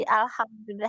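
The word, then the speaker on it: الحمد لله: huruf nunnya kan tawasut jadi kadang kita gini bacanya kalau yang dia ee ditahan alhamdu Tahan kan atau cepat-cepat izhar kan jelas jadi bacanya kurang sempurna alhamdulillah alhamdulillah jadi hamnya mimnya tidak tawasud tapi yang benar Alhamdulillah hamdu sempurnakan dulu mimnya hamdu alhamam alhamdu alhamdu Hm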